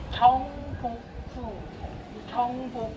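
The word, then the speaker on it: 경복궁: to pronounce isn't it the name of this Palace is Kong Tong can you repeat after me Tong good means T and Tong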